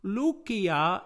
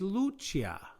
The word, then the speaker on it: Lucia: declension and second declension lucia este lucia is in the atrium now a little bit about pronunciation remember that every time we have a c in latin we pronounce it as a k sound when we borrow these